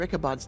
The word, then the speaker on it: Ichabod: Ichabod's desk.